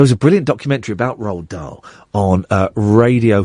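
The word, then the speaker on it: Roald: his garden there was a brilliant documentary about Ral D on uh Radio 4 about three or four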